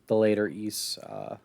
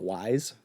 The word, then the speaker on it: Ys: But I should say that for people who have never heard it pronounced out loud, this is the game that's spelled YS. A lot of people just call it Wise.